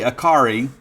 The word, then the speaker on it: Akari: Now, number 1, wearing Chad Bumpus' number, is Kelly Akari. Rhymes with Atari.